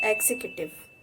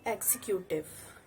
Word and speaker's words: executive: It's executive, not executive.